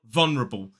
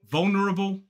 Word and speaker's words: vulnerable: Cambridge Dictionary is that some people will drop the dark l in the first syllable and just say vulnerable still got three syllables